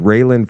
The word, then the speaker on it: Raelyn: whenever please go and follow her her name is spelled r a l y n Fox it's all one word railen Fox on Rumble she is doing such good